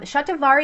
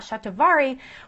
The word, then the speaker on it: shatavari: progesterone levels um it's a fantastic herb um shatavari is going to be the next one so